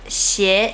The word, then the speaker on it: 鞋: Number 4 Shoes 鞋 / 鞋子 In Chinese, the pronunciation of “鞋” is the same as “邪”, which means “evil”.